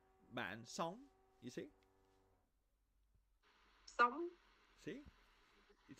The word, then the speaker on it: sống: And bạn sống. Okay, this is not like song, not like a song, but Sống.